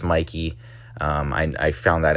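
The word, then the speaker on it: Mikie: video, I had called that it would be Mikey Cheryl versus Jack Chidarelli. Uh, the only discrepancy was I didn't know how to pronounce Mikey Cheryl's name and I apologize for that. I thought it was Mickey.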